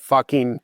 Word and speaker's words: Fakin: There's a winery in Istria whose name is you spell it Fakin and it's pronounced fucking.